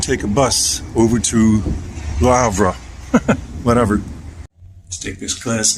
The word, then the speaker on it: Le Havre: I hear a lot of people calling it Le Havre. I guess that's the American way. But the French way, you take the L and combine it with the next word. The next word begins with an H, which is not pronounced. So, and then you get the RE part. So it becomes Le Havre, as far as I know.